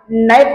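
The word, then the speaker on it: knife: ला समजत नाही उदाहरणार्थ आपण नाईफ हा शब्द लिहितो आणि नाईफ या शब्दामधलं के हे लेटर सायलेंट होत आणि आपण नाईफ अस प्रोनन्सिएशन करतो इंग्रजीमध्ये अशी बरीचशी अक्षर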